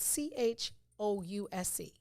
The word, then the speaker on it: chouse: It's spelled CHOUSE. Pronounced chouse.